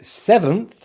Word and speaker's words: seventh: So seventh has two syllables, stress on the first syllable, which starts with the S, and then we have the short vowel sound e, as in pet, which we make by pushing the tongue forward just a little bit and spreading the lips.